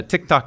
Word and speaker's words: Tik Tok: I had I had a Tik Tok account as a brand. Uh you have to say it like a Filipino.